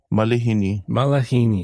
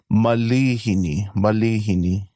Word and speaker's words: malihini: Yeah, so that's a common, I don't want to say mispronunciation, but yeah, a lot of people think there's an actual A after the L, but it's an I, so it's going to be malihini.